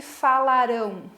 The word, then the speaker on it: falarão: A última sílaba é a tônica, então ela é oxítona, tá?